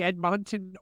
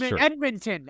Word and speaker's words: Edmonton: I'm thinking of the edmont Oilers is that still a team do they exist you pronounced the city wrong but yes Edmonton edmont Edmonton Edmonton I knew that